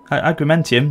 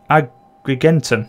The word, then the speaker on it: Agrigentum: be honest with you agreenium not much so we should be okay is it agreenium agrigentum there we go pronounce it right God it takes all